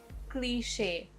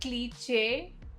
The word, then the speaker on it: cliche: Word 27, cliche. Not cliche, cliche.